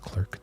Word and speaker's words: Clerk: We're sprinkling some auth with Clerk dev. Keeping it real low key right now. That's how we do it. You know what I mean? When someone else, I always pronounce it like law clerk.